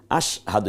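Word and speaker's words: أشهد: এরও এককের মধ্যে ঢুকেছে এমন আশ না আশা হাহাদু না বরং আশ দেখুন এই যে স্বর নিচে একটা হসন্ত আশ হকে আকার দ এর রসুকার আশহাদু এখন আরবিটা যদি আমরা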